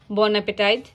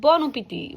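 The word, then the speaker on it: bon appétit: এখানে লেখা ইংলিশে যদি আমরা বলি তাহলে আমরা হয়তো উচ্চারণ করবো বন অ্যাপেটাইট, কিন্তু ফ্রেঞ্চে সেটা না। এখানে লেখা আছে বনপিতি।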